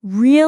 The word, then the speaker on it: usually: It's 3 syllables. Usually. Usually. Yes, a lot of learners say it like usually, which adds an extra syllable and changes the whole feel of the word.